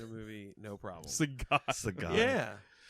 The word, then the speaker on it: Sagat: Sagat. Yeah. Is that how you say it? Sagat. Yeah. I thought it was Saget.